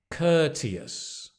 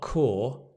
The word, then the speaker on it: courteous: Courteous. Not core, courteous. You can see the courteous. And stress the first word, right? The first syllable.